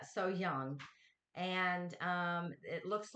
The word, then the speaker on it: So Hyang: so young so young i'm gonna get it um i've said it wrong for so long that i'm trying to improve but so young and um it looks